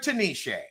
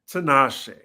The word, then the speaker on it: Tinashe: I finally am enjoying the necklace wonder Tanisha. Tinashe. Okay. You You know mean what, that Tinashe? She has earned proper pronunciation for me.